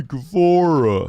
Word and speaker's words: Guevara: Sammy Guevara.